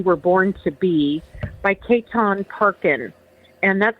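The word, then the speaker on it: Chetan Parkyn: the Person You Were Born to Be, by Ketan Parkin. And that's spelled C-H-E, T as in Tom, A-N, and the last name is Parkin, P-A-R-K-Y-N.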